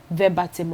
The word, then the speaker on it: verbatim: It's not everything that you go and say verbatim or verbatim, depending on the school you went. Verbatim. That's the correct pronunciation.